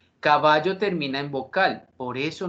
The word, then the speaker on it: caballo: de palabras graves es la palabra caballo caballo tiene acento prosódico en la penúltima sílaba que es el fonema